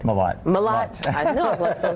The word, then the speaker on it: Mellott: Mellott.